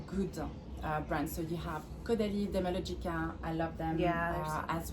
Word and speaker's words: Caudalie: Caudalie. Caudalie.